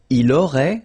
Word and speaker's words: il aurait: Il aurait, same thing here, final T is not pronounced, elle aurait, okay?